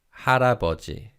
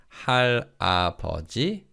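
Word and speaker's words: 할아버지: for grandfather is harabaji hara bhaji notice how the first two syllables link so it's not hal apogee it's let's say that together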